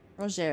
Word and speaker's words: Rogier: Rogier is how it's pronounced, I guess.